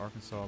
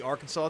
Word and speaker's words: Arkansas: It reflects the French pronunciation of the name derived from the Quawa tribe where the final S is silent. 1881, the Arkansas legislature officially declared this pronunciation to preserve its historical.